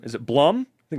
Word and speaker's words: Blum: some are very good it is pronounced Bloom I know uh it's